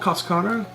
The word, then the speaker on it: cascara: Well, it's this little thing that's called cascara. Cascata. Cascara. Cascara. C-A-S-C-A-R-A. Yeah. Don't ask me to spell that.